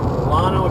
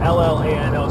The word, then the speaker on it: Llano: Okay, I was just in Lono, Texas. It's spelled L-L-A-N-O, so I think I'm saying that right. I don't think they say it Llano like the Spanish saying.